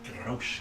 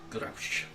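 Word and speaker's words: G'Rausch: Roche Galaborn. And how would you spell that? G apostrophe R-A-U-S-H. Yeah, fancy it's got an apostrophe. Okay. Grapsh.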